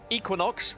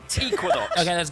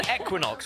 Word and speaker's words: Equinox: Because Equinox have asked that I call them Equinox rather than Equinox, which is the English pronunciation rather than the American.